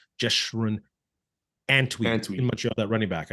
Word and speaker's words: Antwi: And like I said, they got to sign Anshui. I always say that name wrong. Jeshrun Antwi in Montreal, that running back.